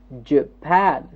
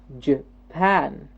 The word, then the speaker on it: Japan: in the second word Japan again a two syllabic word but the second syllable gets the stress Japan Japan okay the third word